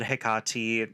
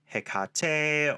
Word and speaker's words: Hekate: Yes, I said Hekate. Many say Hekate or Hekate. That is actually not one of the things I'm going to rant about today, as truly all of those pronunciations are correct in the native Greek.